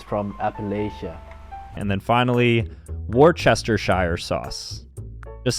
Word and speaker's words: Worcestershire: syllables in this table wrcs can be pronounced whis or worse and Shire can be pronounced sure sheer or Shire say a few interestingly